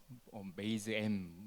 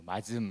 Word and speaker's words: MazM: 조금 전에 이제 사회자분께서 메이즈엠 이렇게 뭐 마즘 이렇게 표현해 주셨는데 한국말로 매즘이라고 읽고요. 뭐 어떻게 발음하든 상관은 없는데 저희 나름대로 이제 열매를